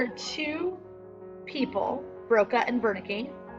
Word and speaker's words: Wernicke: There are two people, Broca and Wernicke, spelled with a W, but again, German, so we pronounce it with V.